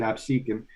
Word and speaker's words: Absecon: Of Absecon, or Absecon, however you want to pronounce that. I pronounce it Absecon.